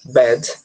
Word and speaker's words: bad: né Bad de novo tem também o d bem mudo né B um D bem sopradas vez a gente tem o A de novo só que dessa vez o a vai ter som de E mais uma vez né Bad parecido com fat tá você escreve com a mas o som é de E então vai ficar aqui